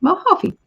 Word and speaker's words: Mojave: Okay, Mojave. So Lydia, hooray! New guy reached out today. Nice. J is pronounced H.